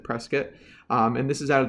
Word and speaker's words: Prescott: town called Prescott Arizona it looks like Prescott but they pronounced it press kit and this is out